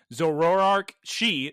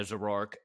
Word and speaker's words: Zoroark: You know, it could also, if Amaranth had a Zoroark, just turn into Liko, say, oh, Terapagos, come here, and then just leave and the show's over. Girls, you're missing 3 syllables whenever you say Zoroark.